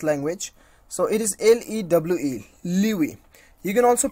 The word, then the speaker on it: lewe: So it is LEWE, Liwi. You can also pronounce, you can also know the pronunciations of this particular word, clicking on this, on this sound icon.